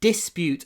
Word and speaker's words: dispute: A dispute over land between neighbours escalated into violence. So, земельный спор, a dispute. Dispute. The stress is on the first syllable. Dispute. But we don't say dies.